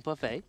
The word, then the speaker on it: buffet: I know it's pronounced Buffet, but I like Flame Buffet because it sounds awesome.